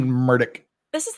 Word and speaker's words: Murdaugh: without parole for ALEX MURDAUGH. And listening to his tape, we all know how he officially pronounces his name. It's not Murdaugh. It's not Murdoch. He pronounces it Murdoch. Murdoch.